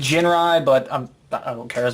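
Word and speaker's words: Jinrai: to or exactly well I tend to call him again rye which is this technically pronounced Jin RI but I don't care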